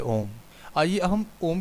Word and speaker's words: ओम: उसके अर्थ को जाने ओम शब्द तीन ध्वनियों से बना है अ उ और म इन तीन शब्द वाले शब्द की महिमा अपरंपार है इन तीनों ध्वनियों को को मिलाने पर सही ओम का उच्चारण होता है अ का मतलब है